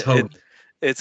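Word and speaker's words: Højgaard: was like a huh it's hog it's hogi and which is bad in golf you don't want to rhyme with bogy but go ahead cam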